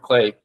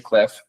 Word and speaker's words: CLEF: chama board Clay eh eu falo Clay eu sei que tem um F mas eh eu acabei indo na conferência lá na França e acho que por conta de ser francês eles pronunciam como Clay a invés de Clef eh mas enfim ele